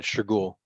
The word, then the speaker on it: Shergul: Is it Shergul? That's right, Shergul.